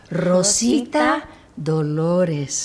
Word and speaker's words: Rosita Dolores: Rosita Dolores. Rosita Dolores. That's my real name. Wow. And I love it now. How do you say it love again? now. Rosita Dolores. Dolores. Everybody. Rosita Dolores.